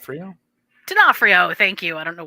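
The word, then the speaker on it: D'Onofrio: I loved Vincent and I always pronounce his name wrong uh who's Vincent from Law and Order Vincent it's not for you dinofrio thank you I don't know why I can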